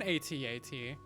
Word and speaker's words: AT-AT: Is it pronounced at or at-at? It's an at-at. No one says at. You may as well say a tat. Like, come on. It's at-at. It sounds so much cooler.